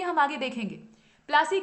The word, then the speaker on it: पलासी: उस स्थान का नाम पलासी था। और वही जो पलासी था उसको बाद में अंग्रेज प्लासी प्लासी बोलने लगते हैं, उनका जो उच्चारण था वो थोड़ा अलग था।